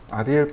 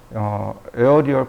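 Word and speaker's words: aerial: 1초에 그 다음에 보시면 아리엘 퍼스펙티브라는 값이 나옵니다 이 아리엘 퍼스펙티브가 뭐냐면 어리타게 보이는 효과 어른어른하게 보이는 효과라고 보시면 돼요 말이 좀 이상하네요 어른어른하게 보이다 어디다가 저장을 해놨는데 에어리얼 퍼시픽티브라고 읽으면 좋겠고요 여기 있네요 이런 이미지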